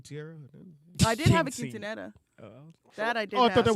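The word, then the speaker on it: quinceañera: but if I say quintieres you know is it yeah see I had it right he said it right that's when you're coming of age say it the right way though with the quinceanera yeah there you go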